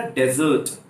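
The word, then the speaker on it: dessert: In American English we pronounce it sa, and in British English we pronounce it sour, sour. डिजर्ट, रेगिस्तान को कहा था डेजर्ट, डेजर्ट।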